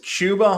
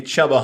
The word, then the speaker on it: Chuba: name is chuba hubbard if you spell it like that it's going to be chubba humberg forever that's on you you decided to spell it like that if you want to be chuba then spell it like chuba not chubba yeah that's on you